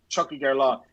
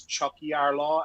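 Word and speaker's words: Tiocfaidh ár lá: Oh, is there a CH sound at the beginning of that? Yeah, Chuck and then Hig. Chucky Gerlaw.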